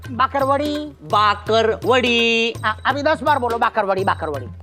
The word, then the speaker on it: बाकरवड़ी: अरे असली होता है बाकरवड़ी। हाँ पहले उच्चारण सीखो, बाकरवड़ी होती है, बाकरवड़ी। हाँ वही नहीं, बाकरवड़ी। फर्क है भाकरवड़ी और बाकरवड़ी में। बोल के दिखाओ बाकरवड़ी। भाकरवड़ी। अरे बाकरवड़ी, बकरी बोलो, बकरी।